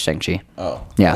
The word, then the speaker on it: Shang-Chi: Chick? No, it's Shang-Chi.